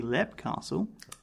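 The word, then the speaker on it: Leap Castle: So, moving away from Scottish cuisine and into Irish castles, specifically Lep Castle, And I'm pronouncing that as best I can. I'm sorry, Ireland, if I get it wrong. It's spelled Leap.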